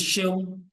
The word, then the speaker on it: Seun: Yes, it's pronounced S-H-E-U-N. Okay. Yes, so it's Seun.